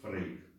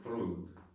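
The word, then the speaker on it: Freud: Например, в русском языке мы говорим Фрейд. Да? Хотя все мы знаем, что переводится как Фройд. Ну, в немецком. Не переводится, а произносится как Фройд.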